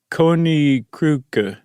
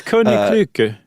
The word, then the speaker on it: Koninklijke: It's Koninklijke.